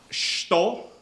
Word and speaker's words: shuto: The way we say knife hand in Japanese is shito. It's written S-H-U-T-O. And the U in the middle of the word is compressed. So instead of being pronounced shuto, it's pronounced shito.